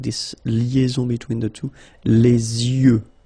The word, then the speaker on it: yeux: Okay, you make this liaison between the two, les yeux. Okay, final X not pronounced, les yeux.